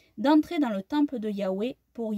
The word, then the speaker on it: Yahweh: que le saint nom de Yahweh notre Elohim se prononce Yahweh, hein, ou Yahoua.